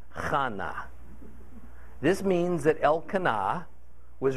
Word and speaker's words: Hannah: Now, verse 2 explains that this man Elkanah had two wives, Peninnah and Hannah, pronounced not like Hannah, but like Chana.